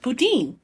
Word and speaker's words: Putin: Oh, that's right, because in French, Putin is pronounced Poutine.